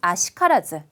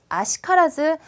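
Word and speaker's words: 悪しからず: 자, 10번에 있는 아시카라즈. 아시카라즈 발음 특이하죠. 자, 아쿠도 아니고 와루도 아니고요. 아로 읽어요.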